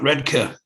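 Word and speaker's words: Redcar: uh down at um down at redka because that's the way you pronounce it i i was born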